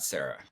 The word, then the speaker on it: Sara: proud enough of me to pronounce my name as Sarah but I will wait for that I'm not gonna it I just think cyra's prettier it's it's you you're probably right you're I might change it I just might change the pronunciation I am so Gina